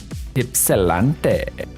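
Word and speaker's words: Ypsilanti: Ipsilante. Assume the Y is an I sound.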